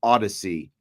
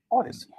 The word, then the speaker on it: Audacy: you can also stream them live on the Odyssey app. And now Odyssey is not spelled like Homer's Odyssey.